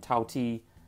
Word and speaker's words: Tao Ti: word for picky and tau t is the cantonese pronunciation of daodi which is the name